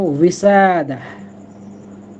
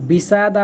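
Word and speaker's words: وسادة: জি, বালিশের উচ্চারণটা হলো উইসাদা। এটা দেখুন, বিসাদা বলছি না, আবার উই এরকমের না, একটা অন্য রকমের, এটা আবার একটু জটিল।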